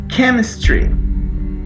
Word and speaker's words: chemistry: You like chemistry. Repeat. Chemistry. Tem 3 sílabas. Chemistry. Como se tivesse um acento aqui, ó. Apesar de ser um CH, tem som de Q.